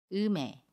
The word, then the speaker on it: 음에: 그러면 받진 미움이 이응 자리로 가서 음에 라고 발음합니다 연애 미 에요 으메 으메 은 장으로 보면 이렇게 발음 해요 마음에